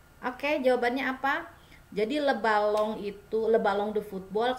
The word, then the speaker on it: ballon: Ini N dia dibacanya eng ya, karena tidak ada huruf belakangnya. Kalau ada e di belakangnya jadi le ballon ya, tapi ini karena tidak ada huruf e di belakangnya jadi kita eng ya, dibacanya eng, le ballon ya.